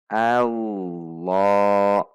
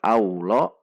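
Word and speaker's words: اللهُ: karena ini didahului fathah allohu allohu Jadi bukan allah' namun kau Wow allohu lemnya dua harokat Made Thobi'i Who satu harokat anda bisa melatihnya dengan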